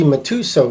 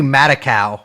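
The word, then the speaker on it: Matusow: mean there's this guy harvey matuso he's this young guy that's how you pronounce it i that's how i pronounce it i got it i've been calling him harvey madakao what but so sounds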